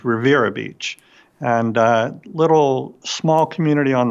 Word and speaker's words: Riviera Beach: should be spelled Riviera it's pronounced by those of us who are locals as Rivera Beach and little small community